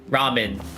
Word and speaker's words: ramen: Apparently there are 3 ways of pronouncing ramen. Did you know? So at least from what I know, there's ramyeon, that's the Korean way. There's ramen or ramen, like the Japanese or just the English way, right?